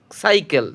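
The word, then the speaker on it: cycle: পরেরটা আছে সি ওয়াই সি এল, সাইকেল, সির উচ্চারণ এখানে দন্তস্ব হবে।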